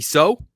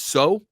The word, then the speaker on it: Sow: Chris Creighton on Sidy Sow. And it is Sow, not Sow.